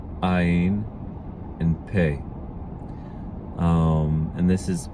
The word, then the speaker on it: ע: Áyin sounds, it actually is in modern Hebrew, and I would encourage you to adopt this pronunciation. Same exact pronunciation as Aleph.